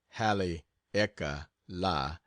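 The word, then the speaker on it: Haleakala: soon as I get back from Hal aala pronounced Hal eeka La I will sail for Honolulu again and then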